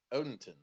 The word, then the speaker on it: Odenton: and Odenton. Yeah, It's I not say Odington. I say Odenton. I don't even say Odenton? the D. Odenton. I do hear Odinton a lot.